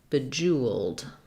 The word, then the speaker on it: bejeweled: So for bejeweled, and here we would have in the IPA stress before the j sound, oo. You may or may not see a W in the IPA, jeweled. So bejeweled.